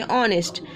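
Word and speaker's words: honest: एच is silent इसलिए ऑनेस्ट.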